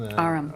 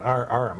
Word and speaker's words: Aram: of technology, and that Abram, is that his name? Aram. Aram. I wasn't sure how you pronounced it.